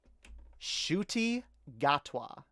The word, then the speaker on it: Ncuti Gatwa: doctor guys the 14th doctor if i can pronounce his name correctly is none other than um shooty gatwa oop let's get rid of joe martin uh